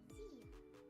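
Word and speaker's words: Szia: See ya. I don't know, something about seeing how it's spelled the S-Z-I-A.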